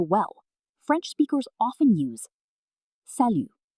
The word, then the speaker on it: salut: For friends, family members, and people you know well, French speakers often use salut. Pronunciation?